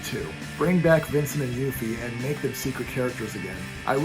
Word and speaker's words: Yuffie: see yuffie yuffie uh I called her Yaffe when I was a kid but then Kingdom Hearts came out and pronounced it yuffie so we'll go with